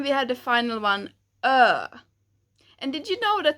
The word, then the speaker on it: ö: And finally, the pronunciation of ö is kind of like the I in bird, bird.